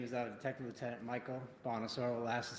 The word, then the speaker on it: Bonasoro: My name is Detective Lieutenant Michael Bonosaur. Last is spelled B O N A S O R O.